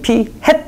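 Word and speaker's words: p-hat: 이게 마치 생김새가 이렇게 피풀이 모자를 쓴 것 같잖아요. 그래가지고 진짜 피 햇 이렇게 읽어요.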